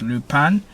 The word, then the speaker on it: Lupin: into the French series, Lupin. That's how it's pronounced in French. It's Lupin, but in English, when I saw it, we'll say Lupin, but in the way it's pronounced in French is Lupin.